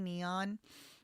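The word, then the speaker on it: N3on: There's a streamer, very famous streamer named Neon, and it's spelled instead of with a e and e, it's spelled with a number three. Neon.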